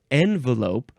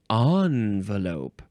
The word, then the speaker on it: envelope: a couple of pronunciations we have envelope or envelope so the n and on pronunciations are used with about equal frequency and both are fully acceptable though the on version